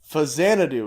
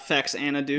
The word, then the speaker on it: Xanadu: head so I picked Hosanna do is how you pronounce this it's not sexy Anna do know it's not facts Anna - it's for Xanadu for the NES because what if it's